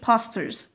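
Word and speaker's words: posters: بوسترز بوسترز بوسترز، با با، برضو الاو هتتعامل زي الايه، نفتحها برضو في النطق فبنقول بوسترز بوسترز.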